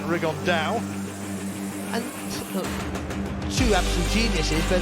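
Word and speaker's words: Rigondeaux: rig on though or as he's correctly pronounced with the uh spanish accent rig on dao and two absolute geniuses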